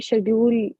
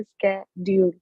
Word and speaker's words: schedule: तो कोई भी मुझे ये शेड्यूल शेड्यूल बोलता हुआ ना दिखे, स्कै है इसकी प्रोनाउंसिएशन।